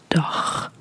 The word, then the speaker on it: dag: It's dag, dag. So it's also a short A sound, and it's dag, dag. This is a G.